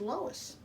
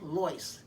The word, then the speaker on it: Lois: next one is lois my mother never said lois they always pronounced her name as loice as an llyce but it's just easier to call her lois now because that's what everybody else calls her now these four women beat